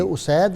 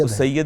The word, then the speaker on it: اسید: انتہا محبت فرماتے تھے۔ اچھا ذرا مجھے تلفظ بتا دیں، یہ اسید ہے یا اسید ہے؟ اسید بھی پڑھتے ہیں، اسید بھی پڑھتے ہیں، اسید بھی دونوں طرح دونوں طرح پڑھا جا سکتا ہے۔ یہ ناصر اس معاملے